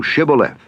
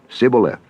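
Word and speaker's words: Shibboleth: If he said nay, then said they unto him, say now Shibth. And he said, Sibth, for he could not frame to pronounce it right.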